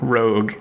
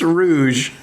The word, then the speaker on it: Rouge: D vector the crocodile her name's not road what is the it's rouge whatever he's the bat